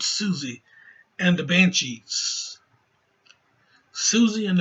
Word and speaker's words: Siouxsie: I mean I think I think it's Susie even though it's not expelled Susie it's it's spelled s-i-o-u-x so I think you know anyway that's spelled Susie and the Banshees Susie